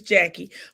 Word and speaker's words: Jacque: Her name is Jackie, but it's spelled Jacque.